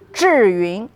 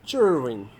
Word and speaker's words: Zhiyun: Okay so it pronouncing meaning smart cloud. Awesome. There you go guys. How do you say that again? Juring. Jurine. Jurine. Juring.